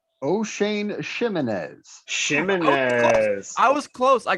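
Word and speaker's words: Ximines: gonna go with Oshane Jimenez. O'Shane Ximenez.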